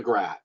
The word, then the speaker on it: GRAT: the client's estate so that is the grad and it rhymes with the Cat in the Hat what do you think